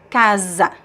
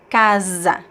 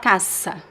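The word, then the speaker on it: casa: word, but if you find the S between two vowels, it be it becomes Z. So repeat after me. Kaza Kaza. It's not Kasa. Kaz zebra like in zebra, right?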